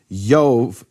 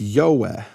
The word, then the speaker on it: Jove: But basically in the early Latin, it wasn't a V, it was a W. And so it wasn't pronounced Jove, it was pronounced Yoeh in Latin 2,000 years ago.